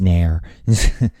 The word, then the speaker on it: Nier: It's Nier. It's Nair. Only Nair.